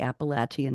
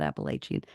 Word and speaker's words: Appalachian: see Dave told me I had to say Appalachian not Appalachian and I listen to you Dave I proun your name wrong but I got appalachin right 50% for me